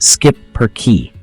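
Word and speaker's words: schipperke: charm let's talk about the shipper key it's pronounced skip per key these pups look like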